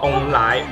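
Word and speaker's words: 凤梨: 因为凤梨在台语念作翁来，也就是有旺的意思。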